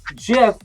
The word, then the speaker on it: GIF: a press release although jiff is obviously pronounced with a soft g people mispronounce the word